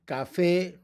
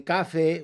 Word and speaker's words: café: What we drink every morning, café, accent. We don't say café, we say café, so we have to put a written accent.